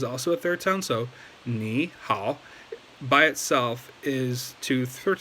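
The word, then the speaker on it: 你好: Okay, so so when you're saying hello to somebody in Chinese, just make sure that the ni is pronounced as the second tone. Ni hao.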